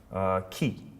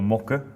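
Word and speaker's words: 木: Next we have the kanji for tree, ki, as it's pronounced in Japanese. Or, what is it, boku or moku, as in like mokuyobi, Thursday.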